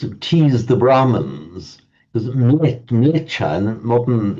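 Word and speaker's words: म्लेच्छ: Um, and it's sometimes quite amusing can slightly tease the Hindus and tease the Brahmans because Mletcha modern in modern northern India it's pronounced just millet.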